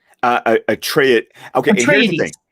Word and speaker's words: Atreides: Atreides. Okay, Atreides. Here's the thing. Atreides. and anyone who wants to fight us on pronunciations, we found this wonderful YouTube channel called Secrets of Dune.